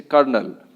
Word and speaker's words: colonel: जैसे कर्नल, कर्नल, है ना, कर्नल में R कहीं नहीं मिलेगा आपको, इसका स्पेलिंग होता है COLONEL, कर्नल, ठीक है।